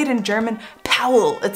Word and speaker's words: Paul: name but when you say it in German Powell it sounds like like the sound effect for